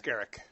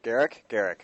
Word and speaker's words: Gericke: So coming up in our next segment, we will have Carla Gericke. Am I pronouncing that right? She'll correct you. It's Gericke. Gericke.